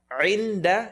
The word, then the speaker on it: عِنْدَ: عِنْدَ عِنْدَ عِنْدَ is going to be pronounced. Get the ayn, second part of the throat.